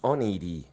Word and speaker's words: Oneiroi: In Greek, it's pronounced Oneiroi. Oneiroi. Oneiroi. As here in Spain, we say Oneiroi. Oneiroi. It's how we pronounce it. But any Greek will appreciate the Oneiroi pronunciation.